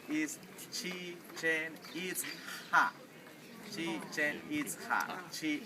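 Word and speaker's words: Chichén Itzá: The pronunciation is not chichanita. Some people say chichia. Some people say chicken pizza. Right? The pronunciation is chi chen eats ha.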